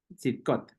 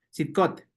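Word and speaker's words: צדקות: palabra justicias del señor que en hebreo escot sidcot así no un poquito difícil de pronunciar no que no ya practicando sale rápido sidcot sidcot eh hashem las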